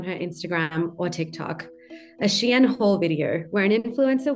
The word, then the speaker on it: Shein: The company, pronounced Shein, became the most Googled name in clothing.